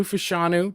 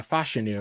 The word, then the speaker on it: Fashanu: I really had an interest, and I think it's actually Fashanu, I think is actually how it's supposed to be pronounced, at least.